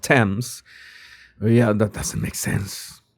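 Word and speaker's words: Thames: And some of you already told me why this is pronounced temps.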